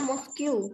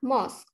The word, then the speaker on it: mosque: Kata ue di akhir itu, mosque, kata ue banyak memelirukan orang, biasanya bacanya mosque. Karena U sama E bahasa Inggrisnya U sama E, makanya dibaca mosque. Tapi yang benar adalah mosque. Kata UE-nya itu dimatikan, jadi dibaca MOSQ-nya saja.